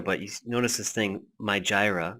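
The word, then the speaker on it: Mijireh: And I kind of skipped over it before as I was going through, but you notice this thing, My Jira. That's actually how you pronounce it, My Jira.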